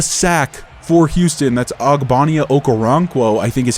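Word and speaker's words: Okoronkwo: some pressure a sack for Houston that's agbania okaranquo I think is how you say his full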